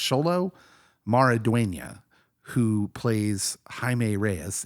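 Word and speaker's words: Xolo: butcher his name but sholo I think it's pronounced sholo maridia who plays haime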